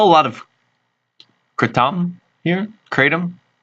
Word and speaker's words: kratom: lot of krypton here kratom the Thai people pronounce it Curtin and my intent is